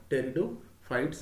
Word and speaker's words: pteridophytes: into the category of territo fights here p is silent here so the study